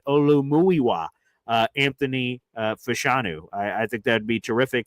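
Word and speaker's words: Olumuyiwa: it to her to start fully and appreciably saying the name as the gods intended. Olu Muiwa uh Anthony Fischanu.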